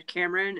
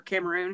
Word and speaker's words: Cameroon: gone on than there Cameron and/or Cameroon excuse me oh I know how to pronounce things I promise listen I'm calling